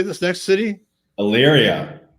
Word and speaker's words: Elyria: Elyria. Elyria.